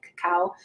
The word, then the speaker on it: cacao: how you say it cacao or cacao I see a CEO okay so not Coco but cow and then you can add